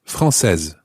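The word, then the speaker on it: française: singular first of all francais ais masculine singular becomes frances because it's got an extra e on the end and that makes the e into es francais francaise and in the plural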